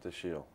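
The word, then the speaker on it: Dashiell: hammett oh daschle yep but you pronounce it my mother pronounces it the shield so i have to pronounce the shoe and last name is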